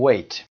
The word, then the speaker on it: weigh: یادتون باشه برای ویت که شکل فعل هست یعنی وزن، اونجا تی دیگه تلفظ نمیشه. یعنی میگیم weigh.